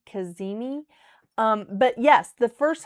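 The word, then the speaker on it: cazimi: And that word is spelled C A Z I M I Kazini.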